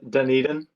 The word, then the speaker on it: Dunedin: Reeves, real quick, can you just tell me how to pronounce the name of your street? Because I've heard several. Yeah, Dunedin.